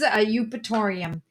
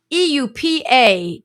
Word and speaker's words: Eupatorium: So the name of the medicine is Eupatorium. Eupatorium. Eupatorium. Make sure my microphone can hear me. Eupatorium. Eupatorium. Eupatorium. The E is silent, and the second word is perfilatum.